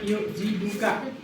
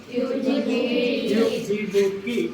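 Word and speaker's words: يعجبكِ: Misalnya yuk jibuka. Yang benar apa? Yuk jibuki. Karena yang diajak bicara adalah perempuan atau anak.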